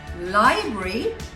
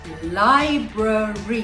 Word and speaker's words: library: did you say it well if you said library i'm afraid you're wrong and the correct pronunciation to this one is library okay this seems like a pretty harmless small